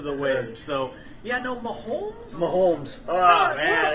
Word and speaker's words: Mahomes: Why do so many people mispronounce his last name? The guy that mispronounces his the guy on Sports Radio 810 that does middays, and he always says Mahomes. Mahomes. It is like there's not. an L in there. It is not Mahomes. Yeah, come on, man. It's Mahomes.